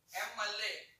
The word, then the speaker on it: MLA: The pronunciation is M, MLA. That's why we can write an.